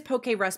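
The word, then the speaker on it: Pokérus: it oh my God it is poke rusy because it's Pokemon virus it's literally just poke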